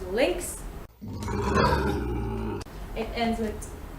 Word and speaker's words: lynx: But I actually found another one, lynx, which is lynx.